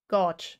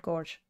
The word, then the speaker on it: gauge: Gauge, yeah. So, gauge, not gorge.